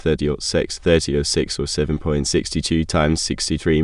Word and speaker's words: .30-06: the 30-minute six Springfield cartridge pronounced 30 ought 6 3006 or 7.62 times